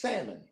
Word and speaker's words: salmon: The L in salmon is silent.